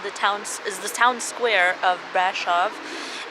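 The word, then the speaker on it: Brașov: This whole place is called the town square of Brasov, and yes, you pronounce it with like sh. The S's are like sh, not like s.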